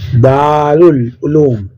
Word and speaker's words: دارالعلوم: مذکر بھی ہے۔ 27، دارالعلوم لفظ کا درست تلفظ کیا ہے؟ دارالعلوم، 2 نمبر ہمارا جواب۔ سوال نمبر 28، درج